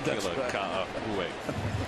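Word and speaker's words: Ka'aihue: Well, I just like saying Kila Ka'ahu'e because I finally learned how to say it.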